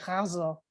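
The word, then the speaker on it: ghazal: name is hazel and she confirmed for me that the pronunciation is with that guttural g hazel so i'm glad i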